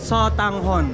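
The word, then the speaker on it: sotanghon: soang soang hon soong you can pronounce it as satang hon soang Hong yes okay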